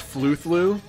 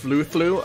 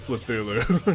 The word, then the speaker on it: Fluthlu: It's Fluthlu. Oh, it's pronounced Fluthlu? Okay. Alright. Well, I may still accidentally pronounce it Fluthulu, just cause Cthulhu, but I will try to pronounce it correctly.